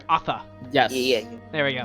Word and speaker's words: Athe: Sorry, Athe. I've been saying Asha this whole time. Sorry, Athe. Yes. Yeah. There we go. Yeah, you've been saying Asha. I've been playing too much Overwatch. Athe.